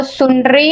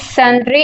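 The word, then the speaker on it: sundry: सन्ड्री expenses, कुछ student उसको सुंड्री expenses कहते हैं, बट it's pronounce is सन्ड्री expenses.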